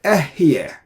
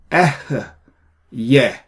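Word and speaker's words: אֶהְיֶה: the YouTubes, they say Ehyeh Asher Ehyeh. It is not Ehyeh. Ehyeh. So you need to pronounce that hey with a schwa here. Ehyeh.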